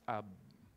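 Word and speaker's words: אב: A and B and it's pronounce ab Okay the word a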